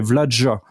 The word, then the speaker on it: Vlaada: Apparemment déjà il faut il faut mettre un J entre le D et le A là. Enfin donc ça dire c'est Vladja en fait en quelque sorte. C'est Vladja.